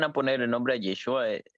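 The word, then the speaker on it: ישוע: Y eso se pronuncia Yeshua, no Yahshua.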